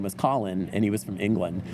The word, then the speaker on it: Colin: so then he spells Colin you know and I said said oh that's the problem see we would pronounce that colon you know and so